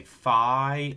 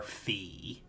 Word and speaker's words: Phi: pronounce this letter Rho there are two acceptable pronunciations of this you can either say Phi or fee and then we're all